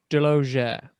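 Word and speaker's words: Delaugere: you get 15 off what's your last name dilogia how do you spell that hello d-e-l-o d-e-l-a-u-g-e-r-e wow that's awesome just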